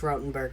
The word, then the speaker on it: Rotenberg: the judge rottenberg center it's supposed to be pronounced rotenberg but i have no respect for them so rotten for a bit of